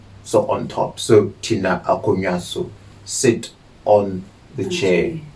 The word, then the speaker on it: akonnwa: Okay, a chair is akonnwa.